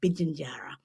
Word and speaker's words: Pitjantjatjara: But the general rules are, Carla, P is not in our languages. It's closer, sounds more like a B. So a well-known Indigenous nation like Pitjantjatjara is actually Bidjanjara.